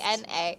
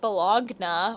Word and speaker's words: Bologna: Yeah, literally, it's like spelled like Bologna, as in like Oscar Mayer, like Does it still exist? Bollogna. Like, can I mean, somebody... it's probably called Bologna or something silly because it's the